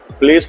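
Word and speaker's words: Place: हम लोग पहुंचे हैं प्लास धाम प्लेस नहीं बोलते प्लास बोलते हैं बिकॉज़ फ्रेंच की प्रोनाउंसिएशन इस तरह से है।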